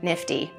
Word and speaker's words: NFTE: Teaching Entrepreneurship, a charity commonly known as NFTE, and pronounced NIFTY.